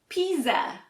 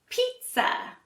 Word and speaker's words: pizza: spelled you might say Pisa that would be incorrect for Americans we actually say pizza so we don't pronounce a Z sound at all it sounds more like a T and s sound let's practice now pizza